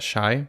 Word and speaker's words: Chi: on instagram follow them you pronounce that shy it's not chicago chicago yeah but it's shy